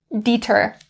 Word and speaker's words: deter: But it's the underflavored food that deters me. For this word, the pronunciation we're going to concentrate on is upon the short E. Don't change it to the long E. Don't say deter, deter.